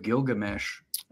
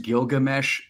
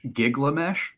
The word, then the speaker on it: Gilgamesh: a world history class my school teacher pronounced Gilgamesh gigamesh oh and from that